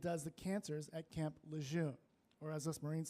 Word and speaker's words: Lejeune: Lejeune.